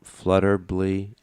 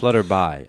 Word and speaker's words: Flutterby: Tell me about the Flutterbly. Yeah. Did I pronounce that correct? Flutterby Festival. Flutterby. Okay.